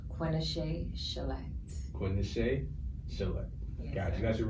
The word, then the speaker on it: Quinashai Chelette: for those at all my name is pronounced quenesha shellette quinnishay god you got